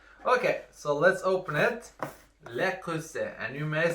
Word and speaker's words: Le Creuset: No, I saw some competitive videos on this, and I learned that the pronunciation is Le Creuset. Le Creuset. It's French.